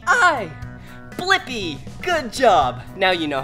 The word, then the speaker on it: Blippi: do is search for my name yeah let's spell it together ready l i p p i blippi good job now you know how to say